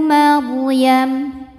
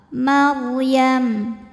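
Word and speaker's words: مَرْيَم: kecil huwal masihu Ibnu Maryam ro sukun didahului baris fathah dibaca secara tafkhim bacanya tebal Maryam di atasnya ini ada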